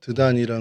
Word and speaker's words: 드단: 먹고 하게 됐습니다 예 히브리어로는 드단 아입니다 말 그대로 드단 이고요 이게 헬라어로 발음이 다단이라고 하는데이 다단이라는 발음이 오늘날에도이 아랍어에서 그대로 통용돼 사용되어지고 있습니다 어 그래서음 이제 뭐